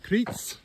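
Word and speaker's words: Criț: So, here's the uh trail leading out of Critzel C R I T, but the T is pronounced like a T S.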